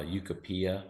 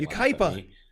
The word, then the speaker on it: Yucaipa: a little desert track I never say it right uh yucopia is what I say in there Yucaipa Yucaipa yeah and it was closed